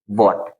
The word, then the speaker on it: what: वॉट। ठीक, मतलब कि यहाँ पे जो एच है उसका प्रोनाउंसिएशन नहीं होगा, उसका साउंड नहीं आएगा।